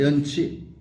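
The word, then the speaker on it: 埏埴: 연자는 이기는 것이고, 치라고 읽습니다. 연치. 식이라고도 있고 치라고도 있는데, 진흙치.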